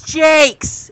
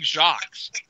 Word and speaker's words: Jacques: It's Jake's. It's Richard Jake's. Jake's. I Richard keep saying Jakes.